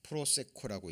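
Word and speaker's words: προσέχω: 자, 삼가하다, 유념하다라고 번역된 원어는 프로세코라고 읽습니다.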